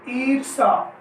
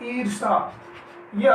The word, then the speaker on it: ईर्ष्या: आगे चलिए ईर्षा। क्या है? ईर्षा, यह अशुद्ध रूप है और इसका हो जाएगा ईर्ष्या। क्या हो जाएगा? ईर्ष्या। तो इस तरीके से आप ध्यान देंगे, दोनों तरफ मात्रा आ रही है यहाँ पर ईर्ष्या, ये शुद्ध रूप होगा इसका और ये ईर्षा जो है अशुद्ध रूप है इसका।